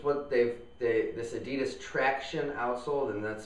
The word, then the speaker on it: Traxion: traction outsole and that's spelled t r a x i o n so I keep wanting to say traxion or something like that but I'm pretty sure they want you to pronounce it traction there and it's uh